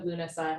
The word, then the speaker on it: Lughnasadh: the, first of all, the spelling of Lughnasadh has a lot more letters than how I'm pronouncing it, but it's named after